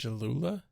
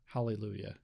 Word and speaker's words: Hallelujah: Jalula? Hail Jalula! The fuck is Jalula? Hallelujah. Oh. Hallelujah! How do you pronounce it, Rex?